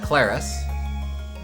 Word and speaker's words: Claris: We can be ClariS, which uh is how it's pronounced, and or we can be Elliot.